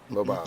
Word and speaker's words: Lobov: Lobov. I believe okay. so, yep. That's how you pronounce it.